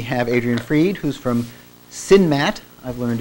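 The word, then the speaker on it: CNMAT: this week we have Adrien freed who's from sinmat I've learned it's pronounced at Berkeley uh which is a computer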